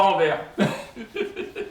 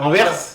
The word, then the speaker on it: Anvers: faut dire Anvers, Ah pas Anvers. Ah, Anvers, ils vous prononcez le S.